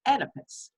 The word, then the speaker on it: Oedipus: The O is silent, but it's Oedipus.